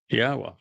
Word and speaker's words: Yahweh: It's a significant accomplishment since I painstakingly explained how one can prove that it is in fact pronounced Yahweh.